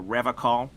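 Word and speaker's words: Revachol: to stay strong for Revol he pronounces Revol with a hard K unlike other people I like to pronounce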